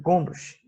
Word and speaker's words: Gombrich: Ele tem esse nome meio enjoado de pronunciar, mas é isso mesmo, Gombrich.